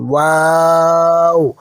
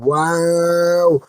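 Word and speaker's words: و: আমার সাথে মুখ গোল করে পড়ুন, ওয়াও। আবার পড়ুন ওয়াও। খেয়াল রাখবেন এটি যেন বাংলা ভ বা ইংরেজি ভি এর মতো দাঁত দিয়ে ঠোঁট চেপে উচ্চারণ না হয়, ঠোঁট গোল করে বলতে হবে।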